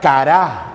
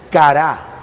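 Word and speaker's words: קרא: corazón ahora clamar viene de la palabra hebrea cara así como si se viera cara pero le pone acento en la última Y eso significa acosar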